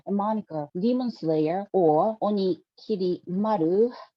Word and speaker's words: Onikiri Maru: moniker, Demon Slayer or Onikiri Maru. I have to be careful not to pronounce this onigiri.